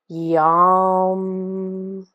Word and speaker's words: yam: different so this word it looks like the word yam y a m but again it it's pronounced a little bit more like yum so we're going to